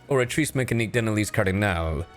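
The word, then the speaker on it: Oratrice Mécanique d'Analyse Cardinale: is in or mea orri mechan Denalis Cardinal what uh it's pronounced orrice mechan denal cardal and what is that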